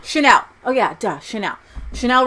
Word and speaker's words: Chanel: You know, Chanel. Chanel.